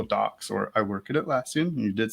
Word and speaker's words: Atlassian: you're in google docs or i work at atlassian and you did say it correctly confluence pages